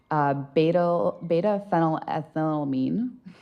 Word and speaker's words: beta-phenylethylamine: Beta-phenylethylamine. That's a mouthful. Can Yeah. you spell that for the court?